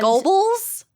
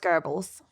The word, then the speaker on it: Goebbels: gerbils gerbils the nazi gerbils oh oh and gobbles yeah but it's pronounced gerbils oh i didn't know that you gotta gorgle